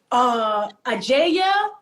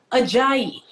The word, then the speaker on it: Ajayi: And it literally is as it is spelled, Ajayi.